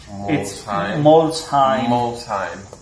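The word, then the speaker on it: Molsheim: their headquarter to Germany in the city of Mslime and they do the type 57. I hope I pronounced that correctly guys. I I really Molshim Moheim Mheim.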